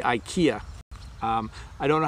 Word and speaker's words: IKEA: is from Lee Lee says how do you pronounce IKEA thank you Bob so we say IKEA I don't know how to sound it out